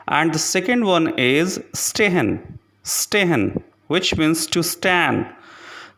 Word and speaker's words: stehen: The next letter combination is S, P, S, T, which is pronounced like the letter combination S, H, P, S, H, T.